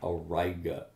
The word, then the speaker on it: Auriga: there and you see you run right into auriga and that is the pronunciation of that most people do mispronounce it when they first see the word and so it is again origa so araga is this pentagon type shape in